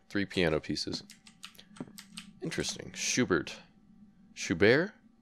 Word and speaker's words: Schubert: Today's program, Schubert, three piano pieces. Interesting. Schubert. Schubert? Is it like Sherbert? Or Schubert, however you want to pronounce it.